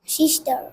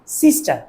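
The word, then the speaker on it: sister: young এর brother বোন সিস্টার সিস্টা না সিস্টার সিস্টার প্রোনাউন্সিয়েশনটা দেখবা কেমন সিস্টার সিস্টার তারপর বড় বোনকে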